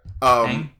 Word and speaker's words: Manh: Manh, which I think is pronounced something like Mang. Yeah. Mang.